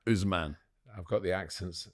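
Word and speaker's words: Ousmane: And in France, the one who I suspect might win it is Manet Dell. There's no Man, it's Usman. Usman.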